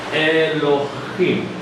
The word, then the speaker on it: Elohim: vemos que Dios, la forma en que se pronuncia en hebreo en la Biblia es Elohim.